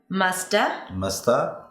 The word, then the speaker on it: must have: The word have is usually reduced when it's unstressed to which is the schwa.